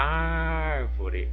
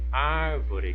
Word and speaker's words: árvore: a palavrinha árvore A árvore árvore Qual que é a sílaba mais forte o ar então o ar é a minha sílaba tônica em que posição que está a sílaba tônica na última não na penúltima não está na antepenúltima então a palavrinha árvore de acordo com a posição da sílaba tônica eu posso classificá-la como proparoxítona Ok então retendo oxítona aqui